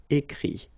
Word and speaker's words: écrit: Ire here, it, but then phonetically it's i as well because you don't pronounce the final t, okay. Écrire, écrit.